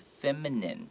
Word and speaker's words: feminine: And this is a word I often, the letter N and M in Taiwan or Asian-speaking countries is very difficult for some people to hear the difference.